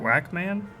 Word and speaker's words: Wacom: Oh, someone says, think of Pac-Man, and you will say it correctly. Wacom? Whackman?